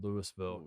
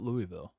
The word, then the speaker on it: Louisville: of uh superior in lewisville colorado um pronounce lewisville not louisville yes they're not spelled the exact same way but it is pronounced i'm convinced that places